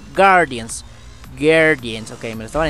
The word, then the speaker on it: Guardians: Halo Guardians Guardians sí no se pronuncia la u no es Guardians es Halo Guardians Guardians Okay me lo